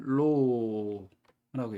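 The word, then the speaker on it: ρ: 읽을 때는 로라고 읽습니다. 로.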